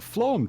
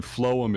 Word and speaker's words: phloem: water and dissolved minerals to the leaves the phloem tissue is for moving energy in the form